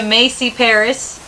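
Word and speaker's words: Chamaecyparis: make it up okay may see paris she macy paris obtusa that's so easy yeah people saying it yes that's how that i'm sticking to that pronunciation which is a japanese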